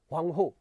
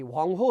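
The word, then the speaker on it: 黄河: एक को हम येलो रिवर कह रहे हैं, ह्वांगहो, चाइनीज प्रोनाउंसिएशन है, चीनी उच्चारण है, तो चीनी उच्चारण में थोड़ा सा डिफरेंस होता है, इसलिए ये ह्वांगहो है, जिसको वो लोग पीली नदी या येलो रिवर भी कहते हैं।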